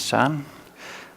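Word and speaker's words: Søren: My name is Soren. It's pronounced with a Danish Ø.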